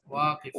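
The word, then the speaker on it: واقف: ওয়াল মুদাররিসু ওয়াকিফুন, ওয়াকি টান নাই, শিক্ষক ইতে টান নাই, ওয়াকিফুন।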